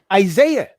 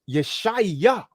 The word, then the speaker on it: Yeshaya: The name Isaiah should be rendered as Yeshaya.